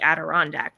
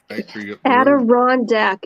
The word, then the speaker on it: Adirondack: design and then rebranded that as the adirondack chair with it just got interesting it did